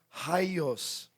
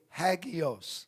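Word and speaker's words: ἅγιος: And the Greek word is pronounced haios. 이 발음이 하이오스입니다. But if you're from Texas, you say hagios.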